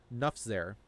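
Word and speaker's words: Nufxair: Nufzer.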